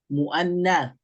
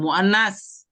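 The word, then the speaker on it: مؤنث: lawannya Muzakar itu adalah muannas bacanya pakai Ta sama seperti muanas bukan muannas salah tapi muanas adalah Isim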